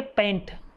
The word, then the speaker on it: pent: तो उससे अपन बोलेंगे पेंट, ठीक है ना, पेंट, ठीक है। ऐसे कार्बन एटम अगर अपने पास में 5 कार्बन एटम आते हैं तो उससे अपन बोलेंगे पेंट, ठीक है, ओके। PANT नहीं, PENT, ठीक है ना।